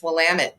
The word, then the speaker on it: Willamette: So the way we help people remember is it's Willamette, damn it.